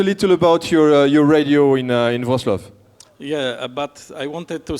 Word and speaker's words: Wrocław: Pour prononcer, c'est Wrocław.